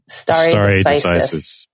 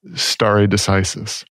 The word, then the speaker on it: stare decisis: importance of I don't even know how to pronounce the word. Stare decisis. Stare decisis.